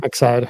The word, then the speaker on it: Excide: Am I pronouncing that right? Yeah. I was going to say, we hear like the emphasis different, like people say it differently every now and then, but yeah, Excide.